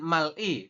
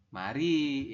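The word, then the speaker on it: 말이: contoh tulisannya seperti ini secara tulisan mungkin anda akan membacanya adalah Mal kemudian tambah dengan i ya miem ditambah dengan a dibaca Ma kemudian real diakhir dibaca l ditambah dengan vokal I Harusnya kan Mal I Tetapi menurut aturan baca Anda membacanya adalah ma mari ya seperti ini Oke silakan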